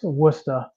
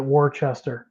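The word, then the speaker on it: Worcester: Um, first time I heard somebody from Illinois try to pronounce Wora. Um, I just Yeah. So, there you go. Illinois pronounces it Warchester.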